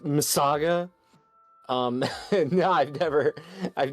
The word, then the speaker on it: MS Saga: It's pronounced Missaga.